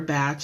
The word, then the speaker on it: Bach: So, yes, there's people pronounce it differently, Bach or batch.